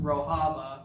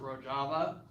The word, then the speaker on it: Rojava: Okay, so today I'm going to be talking about Rojava, or some people pronounce it Rojava, and it is a case study of the success of direct democracy.